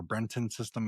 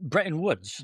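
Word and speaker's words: Bretton Woods: on, you know, the I think how you pronounce this, the Breton system or Brenton system. I the Bret B Breton Woods.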